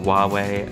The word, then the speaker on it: Huawei: So made by Huawei, or Huawei as they pronounce it.